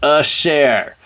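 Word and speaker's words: אשר: r a share vowels this is a schwa but it's a tooth right it's gonna be the sorry the the potato where it's a half schwa it's a half vowel right here it's a uh sound so the dashes are Oz but when it's added to a schwa you only pronounce a little bit if you have to a share and then the dots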